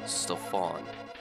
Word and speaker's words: Stefan: or a female, but it's pronounced Stefan. With an O, not an A, but it's spelled with an A.